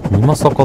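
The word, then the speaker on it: 美作: ミマサカって読むんだ、あれで。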